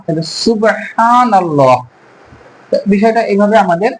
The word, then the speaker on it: سبحان الله: হচ্ছে পাতলা থা আর সিনটা এমনভাবে উচ্চারণ করতে হবে যখন সাপের ফনা উঠলে সি এরকম একটা শব্দ হয় এরকম করে সু আর